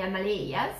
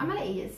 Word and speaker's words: Himalaya: Then we have Bhutan, this country here in the Himalayas. Mm-hmm. Himalayas, how do you pronounce?